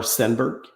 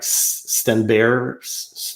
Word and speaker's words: Stenberg: I'm pronouncing it the American way or the English Canadian way because Stenberg is not the way to pronounce it in Sweden. If you listen to the commentators over there, I think it's something like Stenberg or whatever. Anyway, there's no G at the end.